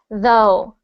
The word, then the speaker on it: though: First off, this word is pronounced though. Though. Though. Though. Yep. So not to, but though.